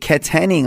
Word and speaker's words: Katanning: going to go to Teresa or from wa Katanning I'm sorry how do I pronounce that Theresa is that right K how